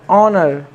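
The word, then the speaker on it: honour: है next word AO एन ओ यू आर ऑनर सम्मान honest A एन ई एस T honest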